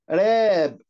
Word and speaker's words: wrap: ننطقهم يلا مع بعض: count، counted، count، counted، respect، respect، يحترم، respected، respected، راب، ال W silent، راب، راب، يغلف، راب، راب